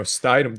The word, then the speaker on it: Stidham: That was a bimodal pronunciation right there. Is it Stidham? Yeah. I think I think so. it's Stidham, yeah.